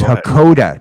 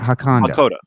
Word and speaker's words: Hakoda: So it's Hakoda, not Hakanda. Hakanda is a play on Wakanda from Marvel, not this. His name's Hakoda.